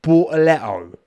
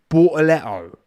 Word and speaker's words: Bortoleto: That is how it's pronounced, right? Bortoleto. Get with the... It's funny because, I find it quite jarring how some of the commentators call him Gabriel when it's Gabriel. That's how he says it.